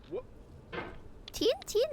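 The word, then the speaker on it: tchin-tchin: Tin tin is how you toast in French.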